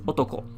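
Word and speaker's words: 男: that would definitely be the case and it's pronounced as otoko by itself other important words or words that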